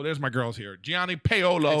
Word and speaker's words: Paolo: Didn't say it right, but it's Paolo. Yeah. So it's like Paolo. Yeah. So like if there's a dude named Olo, you gotta pay him.